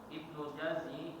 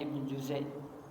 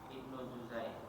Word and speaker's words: Ibnu Juzai: Ibnu Jazi mengatakan, ini yang benar bacanya Ibnu Juzai. Ya, Ibnu Juzai.